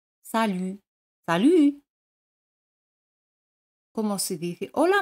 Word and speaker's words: salut: Hola es salut. T al final no se pronuncia. Salut. Salut.